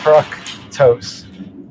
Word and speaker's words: fructose: a uh um now the deal with fructose is that the C in fructose is part of the first syllable and the t is part of the second syllable so it's frose a word like glucose